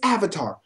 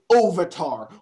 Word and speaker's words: Avatar: I'm sorry, it's Avatar, not fucking Ovatar. Where in hell did you hear that pronunciation?